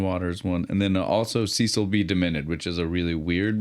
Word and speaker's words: Cecil B. Demented: Cecil B. Demented. Like the letter B, not B-E.